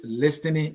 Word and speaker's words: listening: stop with this listing the t is silent please just stop with this listening business as a media